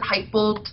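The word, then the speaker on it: Hytbold: want to talk about Huitbold? Yeah, let's head over there. It's a very poor Swedish impression by me, but. Yeah, Huitbold. Huitbold. So yeah, it's internally we pronounce it Heitbold, but who am I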